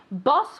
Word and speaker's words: boss: Sometimes people say boss and it sounds like bus, and sometimes people say bus and it sounds like boss, okay? Boss with an O and bus like with an A sound, okay?